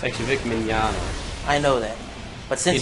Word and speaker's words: Mignogna: It's actually Vic Mignogna.